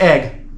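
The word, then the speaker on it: Aigle: they they pronounce it eigel a-i-g-l-e and I've I've been there um and everyone just it's a i g l e but everyone's like oh it's pronounced egg like scrambled eggs or whatever they say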